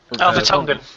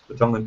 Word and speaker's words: Vertonghen: I don't know how to pronounce it. Gundogan. Vertonghen. Yeah. Vertonghen.